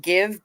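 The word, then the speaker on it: GXVE: Stefani thing I think she pronounces it give but spells it gxv it's the most def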